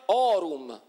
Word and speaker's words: aurum: Non solo, ma quindi la parola aurum non si scriveva aurum, ma si diceva orum.